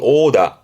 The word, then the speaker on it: 殴打: 발음은 오다. 오다. 그래 조심할게 유럽을 말하는 오배의 오와 때리는 구타의 구는 둘 다 발음이 오라는 거.